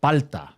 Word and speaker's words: palta: In Chile, it's called palta. Really? Yeah. Pala. Pala. Why? How do you spell it? P A L T A. Just like it sounds.